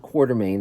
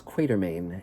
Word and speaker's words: Quatermain: of h writer haggard it's not quartermaine it's quatermain and uh and that's